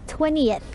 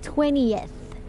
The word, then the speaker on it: 20th: Anniversary Muffy and Donald Miller Evelyn and Leonard วันนี้คำที่จะสอนคือคำว่าลำดับที่20นะคะตรงนี้ลำดับที่20ให้เราออกเสียงว่า 20th ออกเสียง 20 ก่อนแล้วก็ thนิดหนึ่งนะคะแล้วก็ตามด้วยเสียง th ในตอนท้าย 20th ซึ่งเสียงลำดับที่20เนี่ยต่างจากเลข28ออกเสียงว่า 28 ลองฟังแล้วเปรียบเทียบกันนะคะลำดับที่20 20th เลขที่28 28โอเคลองฝึกแล้วก็ฝึกฟังแล้วก็ฝึกพูดตามกันดูแล้วกันนะคะ Don't forget